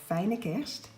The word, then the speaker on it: Fijne Kerst: It says Merry Christmas in Dutch, and it is pronounced, for those of you who want to know that, Fijne Kerst.